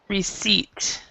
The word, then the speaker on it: receipt: debt and receipt um the B and the P before a t are also silent so you have Deb and you have um um receipt so that's those are